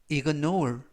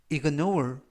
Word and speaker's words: ignore: 나가자 라는 표현이 되겠습니다 이번 표현은 ignore ignore ignore이라고 발음하시면 되겠고요 이때 강세는 가운데 부분에 있는 알파벳의 강세가 있습니다 그래서 ignore이라고 발음하시면 좋겠고요 품사는 동사 뜻은 무시하다